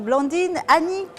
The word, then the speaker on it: Blandine Anique: avec moi sur ce plateau je ressors madame blandine annick away de chez nous j'espère que j'ai bien pensé bravo pour avoir bien prononcé mon nom c'est merci d'avoir accepté notre